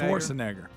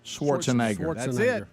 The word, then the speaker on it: Schwarzenegger: name correctly careful care you got to be very careful with it swarzenegger Schwarzenegger Schwarzenegger Schwarz Arnold Schwarzenegger that's it I got it all right so it